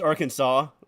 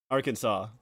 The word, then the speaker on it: Arkansas: lot about uh it's Arkansas okay yeah okay right that's that's what I thought Arkansas which yeah it is very very weird that is pronounced like that but I used to